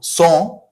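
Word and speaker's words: sang: So song, long. Long is long. This is masculine variant of the adjective, and this is song, which is blood, okay? So we are skipping the last g if you can see.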